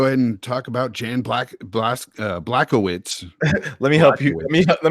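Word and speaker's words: Błachowicz: Blachowicz, huh? Yeah, Blachowicz. I know it doesn't look like that's how it's pronounced. It looks like Blachowicz. Bro. It's one of those Polish things.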